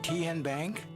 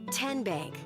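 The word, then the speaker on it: TnBank: Kien Bank. Nope. Tin Bank. Uh-uh. So, what is it? Tenbank. 10 as in Tennessee.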